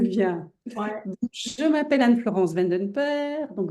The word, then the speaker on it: Vanden Perre: Je m'appelle Anne-Florence Vandenper, donc Vandenperre. C'est pour ça que je t'ai laissé Un nom un prononcer.